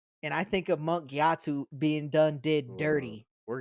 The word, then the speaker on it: Gyatso: defending those little kids can you say his name one more time for me gatu gatu yeah with a G gatu yes is that how you say it thought it was KATU it's gatu are you sure I'm